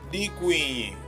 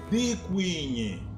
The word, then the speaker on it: Dikwinyi: O número 10 podemos pronunciar de duas formas, com o prefixo di ou sem o prefixo di. Com o prefixo di fica da seguinte forma: Dikwinyi. Sem o prefixo fica da seguinte forma: Kwinyi.